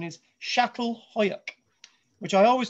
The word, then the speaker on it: Çatalhüyük: Today, we're going to be looking at, as I'm told, the right pronunciation is Çatalhüyük, which I always call as Catalhoyuk.